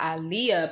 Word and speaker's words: Aaliyah: b singer aaliyah and notice i pronounce the names differently when i speak of the almighty i'm saying i'm speaking of the almighty in the pronunciation of ali yah because that's the actual correct pronunciation now aliyah is how she pronounced it and you can go and let me not say she it's how alia pronounced it and you can go back and surface up an interview of her pronouncing her name i'ma speak on terminology